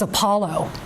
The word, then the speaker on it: Apollo: So if you take Opelo and put the stress on a different syllable of the word, it becomes Apollo.